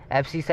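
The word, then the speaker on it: abscissa: अब जोन सी स्पेलिंग मतलब देखना देख लो, एब्सिसा ही बोलते हैं।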